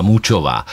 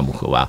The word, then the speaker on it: Muchová: a na tom kurtu ji ohlásili jako Karolina Mučová. A vím, že koukal jsem se na Eurosport a komentátor na Eurosportu poslal nějaký WhatsApp přímo jako na vedení French Open a řekl, ať ji vyslovujou správně. A on se opravil a řekl Karolina Muchová.